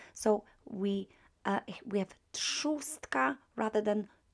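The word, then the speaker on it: trzustka: after t uh will be pronounced as uh pronounced as s so we uh we have chostka rather than trustka right feminine noun now the first neuter noun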